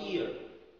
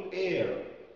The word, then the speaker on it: ear: ear، this is my ear، لو نطقتها غلط هتقول air، air، air يعني الهواء.